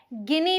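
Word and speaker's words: Guinea: बोलेंगे पप फिर है गिनी पिग आप स्पेलिंग देखिए जी यू आई एन ई ए पढ़ेंगे क्या गिनी गिनी पिग इसके बेबी को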